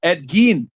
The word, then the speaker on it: Ed Gein: and keep up the good work also it's pronounced Ed Gein okay yo Mario what's up now paying Charleston